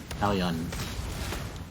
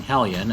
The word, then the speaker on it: Hellion: Hillion. Oh no, I'm saying Hillion. That's literally what Link and Zelda are. Hillions. So I'm seeing Hellion and thinking Hillion.